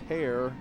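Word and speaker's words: Herr: Colin hair 59 senior spelled he e r pronounced hair it's a pretty good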